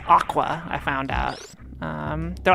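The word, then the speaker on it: Aqours: aor a q o RS uh but it's pronounced Aqua I found out um they're like a love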